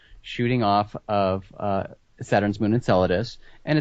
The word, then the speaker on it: Enceladus: Enceladus.